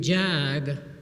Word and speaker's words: Jag: So I was given a nickname, Jag, like in Jaguar. And ever since that association, I've been dreaming of owning a Jaguar with a license plate, Jag's Jag, right?